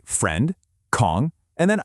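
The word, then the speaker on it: ของ: And here it is, "Kong". This is your master key for ownership. Pronunciation is super easy. Just think of the Kong in King Kong.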